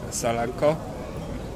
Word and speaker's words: Salako: Your name is Michael Salako. Yeah, right. Do I pronounce it well?